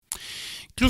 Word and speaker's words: Clew: Et donc, en recherchant Clou, Clou, ça s'écrit C-L-E-W. Donc, C comme Charlie, L Lima, Echo W Whisky.